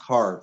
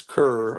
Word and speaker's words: Kerr: this is May 1968 he says Deborah Kerr Deborah Carr yeah it's pronounced Carr Deborah Carr she was big a beautiful woman like uh fashion model type actors I I I thought I always thought it was Kerr oh well no I always heard it pronounced